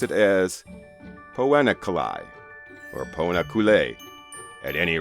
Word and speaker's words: Poena Cullei: I could find on record pronouncing this term, pronounced it as Poena Cullei, or Poena Cullei.